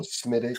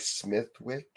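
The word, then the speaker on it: Smithwick's: Sometimes when you see how a word is spelled Yeah. you that letter is not necessarily pronounced and that's even more so more so in the UK you guys is it like leester and worester smittic I mean as a Canadian you come here and you're like smithwick and micious cuz I don't know that you're not supposed to pronounce those letters you have to grow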